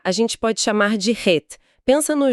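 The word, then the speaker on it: ח: É um som gutural, vem do fundo da garganta. Para facilitar, a gente pode chamar de Het.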